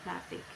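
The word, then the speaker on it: gnathic: GN, pronunciation N, example gnatic.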